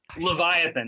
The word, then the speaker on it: Livyatan: the fossil whale uh oliviatan leviathan is the pronunciation okay i'm just trying